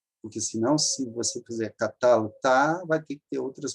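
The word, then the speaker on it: קָטַלְתָּ: Porque, senão, se você fizer catalta, vai ter que ter outras modificações. Então, a sílaba forte é essa aqui, catalta. Catalta. Catalta é paroxítona.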